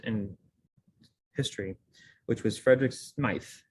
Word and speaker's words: Smyth: history, which was Frederick Smythe. He pronounced it Smythe or spelled it with a Y.